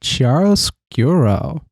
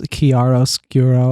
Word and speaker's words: chiaroscuro: regain their presence fahrenheit chiaroscuro i glad you could pronounce that on first go i did it wrong it's kiaros gero i didn't read ahead